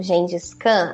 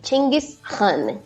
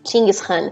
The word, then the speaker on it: Chinggis Khan: Bom, você estava comentando agora do Gengis Khan. Aqui, a pronúncia local seria Chinggis Khan. Chinggis Khan.